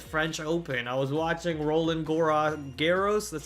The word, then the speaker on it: Roland Garros: I was watching Roland Garros, that's how you say it, Roland Garros.